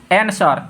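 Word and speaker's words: answer: तो यही बोल रहा है डब्लू के बाद आर हो तथा डब्लू के पहले एस हो तो डब्लू का उच्चारण नहीं होता है, ठीक है। फॉर एग्जाम्पल एनसर, तो देखिए तो यहाँ डब्लू है तो डब्लू का पहले क्या है, एस है, तो इसका उच्चारण यानी इसका साउंड क्या होगा, एन सर, यानी डब्लू उच्चारण नहीं होता, ये साइलेंट हो जाता है।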